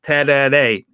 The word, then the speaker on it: tereré: It's called tereré, T-E-R-E-R-E, but it's pronounced tereré.